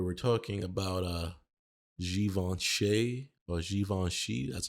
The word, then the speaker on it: Givenchy: And on today's show, we have today's video, we have more breaking news where we're talking about Givenchy or Givenchy, that's how it's pronounced.